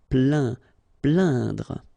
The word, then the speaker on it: plaindre: Plaindre. Okay, when you combine this A-I-N, you will get the sound un. So really, this nasal sound in your nose. Plaindre.